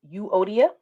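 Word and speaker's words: Euodia: to talk about um yodiya you odia that's how you pronounce it and syntachy um and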